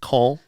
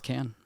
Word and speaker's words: Cannes: They don't say con. No, it's can.